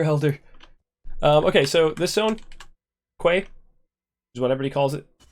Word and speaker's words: Quay: Okay, so this zone, Quay, is what everybody calls it. That's pronounced Key, by the way. Q-U-A-Y is called Key.